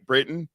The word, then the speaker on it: Britton: started talking to I'm saying it right right Britain yes all right I don't want to be